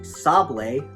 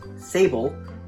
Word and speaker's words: sablé: It is pronounced sablé, not sable.